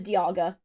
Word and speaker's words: Dialga: previous issue there, Angus, I pronounce Dialga like diamond and Diancie like diamond. The official pronunciation is Dialga. Dialga, interesting. You'd think it is Dialga because, like, a time dial and diamond, but no, it's Dialga.